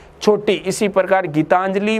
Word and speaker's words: गीतांजलि: मैंने आपको नियम बताया था कि जब जिस वर्ण के ऊपर अनुस्वार लगता है तो अनुस्वार का उच्चारण संबंधित वर्ण के बाद में होगा। गीतांजलि हम बोलने में इस आधा ने का उच्चारण कब कर रहे हैं, ते के बाद कर रहे हैं, तो अनुस्वार कहां पर आएगा, ते पर।